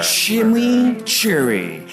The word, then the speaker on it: chimichurri: Chimichurri. That's how you pronounce it. Let it roll off your tongue.